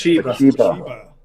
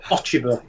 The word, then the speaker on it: Ochiba: It's Achiba. Or Ochiba, as Rick likes to say. How do you say it? You say it. Ochiba. Ochiba. There's no R in it.